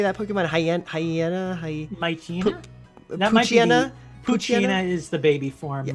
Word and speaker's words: Poochyena: Poochyena is the baby form.